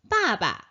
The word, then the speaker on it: 爸爸: 자세히 살펴볼게요 아빠 힘내세요 아빠 봤잖아요 바바 바바 아빠 발음도 비슷하죠 아빠 아빠 바 바